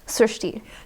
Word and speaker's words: Srushti: How do people pronounce your name? Srushti.